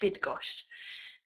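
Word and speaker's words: Bydgoszcz: I'm living in now is called bidg everybody is frightened of pronouncing it but if you're not sure it's B you can pronounce it B i d g o h bid gosh I'll write that in the chat box um like this yeah that's the easy way to pronounce it um it's not quite as scary as all those consonant make it look um and yeah this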